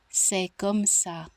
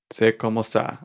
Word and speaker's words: C'est comme ça: So I'm just gonna play the pronunciation, and I'll tell you what it means in French. C'est comme ça. C'est comme ça.